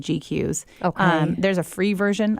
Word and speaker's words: GQueues: And the program I use for that is called GQs.